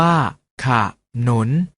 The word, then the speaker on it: ขนุน: เสียง ว่า ฉาก หลาม ขนุน ออก เสียง ว่า ขนุน เมล็ด ออก เสียง บ้า